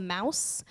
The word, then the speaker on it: Maus: He recommended me a book called Mouse. There's 2 books actually. It's spelled Maus, and it's written like a comic, but it's a World War II story.